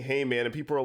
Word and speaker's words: Hayman: by the way but Heyman is spelled h a y m a n so Heyman but it doesn't stand for hay as in like bales of hay it is a an